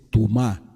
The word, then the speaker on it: tumá: Hay otra palabra que también es importante que la apunte, que es tumá.